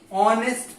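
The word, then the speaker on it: honest: Example लेते हैं, Mohan is ऑनेस्ट person. बताइए यहां पे क्या आएगा, यहां पे कॉन्सोनेंट से शुरू हो रहा है लेकिन इसका उच्चारण किससे हो रहा है, एच साइलेंट है, ओ से शुरू हो रहा है।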